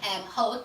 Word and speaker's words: Hoek: I pronounce it Hoek, I think the proper pronunciation of it is Hoek, H-O-E-K anyway.